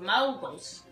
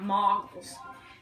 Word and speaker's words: moguls: There's only 5 levels of moguls. That's how, I've been told that's how you pronounce it. Moguls, not moggles.